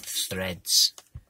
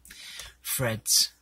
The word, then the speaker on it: Threads: after and we have threads threads commonly pronounced threads that's a british anachronism not pronouncing not correctly pronouncing th pronouncing it as an f oh just needles but anyway fred's fred's fred's setting set